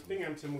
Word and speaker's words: Binghamton: long-term goal of having people pronounce Binghamton without a P.